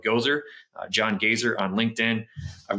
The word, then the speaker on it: Goeser: It's spelled like Gozer, John Gazer on LinkedIn.